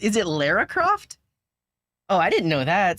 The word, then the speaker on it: Lara Croft: ls and how's it going welcome in I'm pronouncing Laura Croft is it Lara Croft oh I didn't know that so it's like